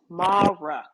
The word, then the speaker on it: Mahruk: properly, but is it Mahruk? Did I say that right? Yeah, no, hi Vanessa. It's Mahruk. The way I tell people is always like your mom, Ma, like calling your mom Ma,